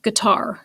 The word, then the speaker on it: guitar: first syllable lizard but a word like guitar that would work guitar the dumb it's got that emphasis on the second syllable so if i could